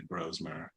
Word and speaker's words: Brosmer: I was kind of hoping you were going to pronounce it Brosmer so I could I could correct you because I remember last year that you taught me that it was actually Brosmer.